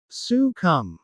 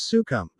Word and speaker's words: succumb: accompany a pun succumb sukum. The letter B at the end of succumb is silent. Do not pronounce it as sukump.